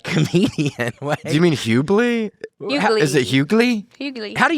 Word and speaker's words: Hughley: Hughley. Is it Hughley? Hughley. How do you say it? I don't know. It's not up to me. Grant, how do you say it? Do you know? The Hughley.